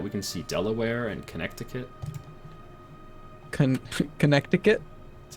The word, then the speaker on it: Connecticut: No, I'm pretty sure it's Connecticut. Yeah, that's how it's pronounced.